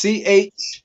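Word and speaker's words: ח: And it's the word ha. Ha. Like you about to spit, right? It's CHAA, right?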